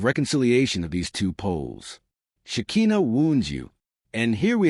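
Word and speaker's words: Shekhinah: In Jewish mysticism, especially when we study the text of the Old Testament, the feminine of God has a name pronounced in Hebrew as Shikina, the divine presence that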